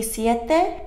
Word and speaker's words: Siete: i have here um the siete and that's how you pronounce it they're hot sauce i